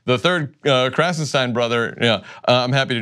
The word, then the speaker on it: Krassenstein: He's a Klippenstein, they're Krassenstein, and the device I use to remember the difference is the first syllable of their last name is Crass, which means thoughtless and ignorant, and the first syllable of Ken's last name is Clip, which is the part of a firearm you put the bullets in.